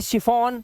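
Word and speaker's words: chiffon: इसी तरह से यहां पर ये क्या है, यहां पर ये है शिफॉन, क्या हो गया, शी की आवाज आ रही है, शिफॉन।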